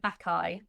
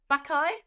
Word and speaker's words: Bacchae: Well, it's actually a Greek word, but like if I was to anglicize it, Bacchae.